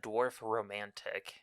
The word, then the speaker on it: Dorfromantik: So when you first pronounced this game, it sounded like you said Dorfromantik.